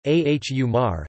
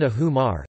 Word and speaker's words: ahumar: The letter H is not considered an interruption between vowels so that ahumar is considered to have two syllables, ahumar. This may vary in some regions, where H is used as a hiatus or diphthong broking mark for unstressed vowels, so the pronunciation would be then ahumar, though that trait is gradually disappearing.